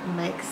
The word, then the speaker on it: make: a um a there has to be an e on the end silent E because the a says its name um ache ache make